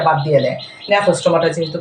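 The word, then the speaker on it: Gnathostomata: সাইক্লোস্টোমাটা এখানে আছে ন্যাথোস্টোমাটা এখন ন্যাথোস্টোমাটা জিটা সাইলেন্স থাকে এটার উচ্চারণে আমরা আনি না প্রোনাউন্সিয়েশনে আমরা যখন স্পেল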